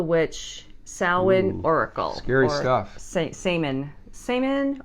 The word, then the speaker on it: Samhain: Samhain or Samhain. Samhain is the proper pronunciation for Halloween, traditional pagan tradition, religion.